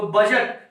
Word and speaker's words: बजट: Friends, आते हैं अगला, तो बजट, BUDGET, डी के जस्ट बाद यहाँ जी आ रहा है, तो यहाँ पे क्या हो रहा है जी? डी साइलेंट हो रहा है। तो बजट मींस बजट।